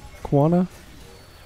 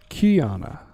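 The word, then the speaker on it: Qiyana: yeah the Equinox killed Kawana how do you pronounce that Kiana that's right Kiana Kiana killed her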